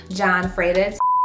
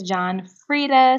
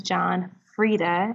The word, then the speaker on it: John Frieda: but I have partner with John Freitas so guys I have no clue where I got John Frieda from it's John Frieda so please ignore my wrong pronunciation I'm looking back on the editing and was jacking the name all the way up and was having a dub moment so it is John Frieda and Matt John Frieda